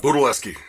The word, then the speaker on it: Budelewski: you say your last name what's up guys Buda Leske gotcha I figured let's uh cuz Frank has